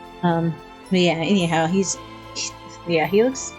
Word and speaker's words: Autolycus: not sure how to say this name, but Autolycus. It's Autolycus.